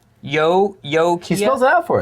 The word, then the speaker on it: Ukiah: This is Daryl in Ukiah, California, pronounced Ukiah. Or Ukiah. What are you saying? Where's the name? Yo-Kia. He spells it out for us. Yokia. Well, he pronounces it, but somehow you got to realize